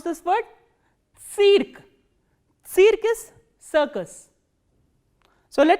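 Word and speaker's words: цирк: How will you pronounce this word? Cirque. Cirque is circus. So, let us revise all these words once again. Stantia, which is station, tsitok, flower, tsientre, center and cirque, circus.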